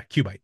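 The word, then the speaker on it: QUByte: Q bite.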